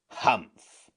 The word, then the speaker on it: Humph: Humph, said the sand fairy. If you read this story aloud, please pronounce humpf exactly as it is spelled, for that is how he said it.